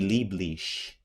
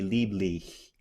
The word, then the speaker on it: lieblich: But one thing not to do, one trap that I hear a lot of English and American singers doing when they sing in German is just to do an SH. Wie lieblich. That's wrong, even though the sound might be very similar. Wie lieblich. You want it with the tongue.